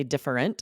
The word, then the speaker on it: different: Most likely, and I hear on podcast TV shows more often, I hear these squished together and turned into two syllables.